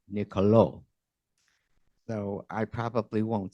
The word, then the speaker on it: Niccolò: up to find out how I should properly pronounce makaveli's first name should it be Nicolo or Nicolo well you know the answer none of the